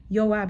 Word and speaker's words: Joab: Yoab in Hebrew.